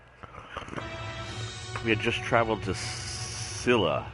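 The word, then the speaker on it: Scylla: had just traveled to Silla I think as the way it's pronounced s cyl LA we have multiple missions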